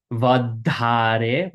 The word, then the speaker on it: વધારે: Again, this DH is going to be a in between our teeth. Vadhare, we bite our tongue.